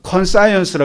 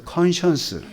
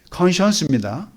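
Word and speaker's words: conscience: 양심이 제가 컨스라 그랬더니 옛날 대학 교수님 출신의 권사님께서 목사님 양심은 컨스가 아니고 컨션스예요. 한번 발음해 보세요. 컨션스 이게 양심이에요. 그래서 제가 공개적으로 저의 잘못된 발음을 사드립니다. 예. 컨션스입니다.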